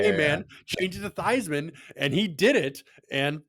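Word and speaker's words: Theismann: Ben I haven't heard his name is actually pronounced theeman and it's always been thian oh I did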